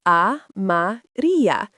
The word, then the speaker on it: amarilla: La flor amarilla, pronounced amarilla.